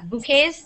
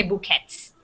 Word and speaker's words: bouquet: the S bouquet yeah bouquet you don't say the T even if you put an S at the end you just say bouquet but you never you don't pronounce it you don't say bouquets okay um and let's